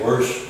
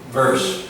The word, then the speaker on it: verse: Everybody wants to say worse, worse, worse. We don't. No. B. Verse, verse, verse.